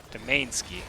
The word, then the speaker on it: Domainski: Domainski is how you pronounce that name.